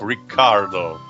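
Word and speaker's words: Riccardo: My god, I thought we were going And I home remind you that the name Ricardo here is spelled with 2 C, like Ricardo.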